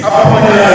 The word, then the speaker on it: Acheampong: Please, Acheampong is a very strong man.